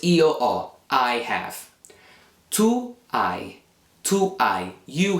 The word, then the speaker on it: ho: You don't pronounce the H in Italian, so it's io ho, I have.